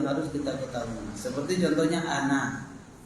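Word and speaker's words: أنا: Seperti contohnya ana. Ana itu harus tulisannya panjang tetapi bacaannya pendek.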